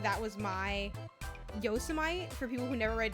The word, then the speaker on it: Yosemite: like that was my Yosemite for people who never read yosity or heard yosity and they've only read it it and they're like oh Yosemite National Park it's like yosity like that's rough let me know